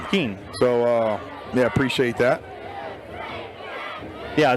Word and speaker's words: Keen: His name is pronounced Keen. Keen.